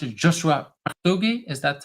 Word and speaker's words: Partogi: is that how I should pronounce it Joshua Pugi is that how I should pronounce it yes thank you yes that's how you pronounce it Joshua poui and before we jump into too much on